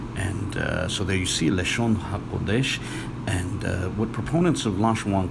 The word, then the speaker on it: לשון הקודש: might notice is that it's spelled with the wa. So if they were to, disregarding the definite article, the ha, if they were to pronounce that according to their system of pronunciation, then they would pronounce it Lashawan Quadash.